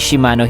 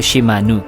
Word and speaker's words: Shimano: na si Shimano na ang pagkakabigkas daw ng pangalan nito ay Shimano hindi daw Shimanu.